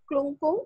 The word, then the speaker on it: Klungkung: ask the mayor of Bogor and mayor of Klungkung. Am I pronouncing this correctly, Tara? Klungkung?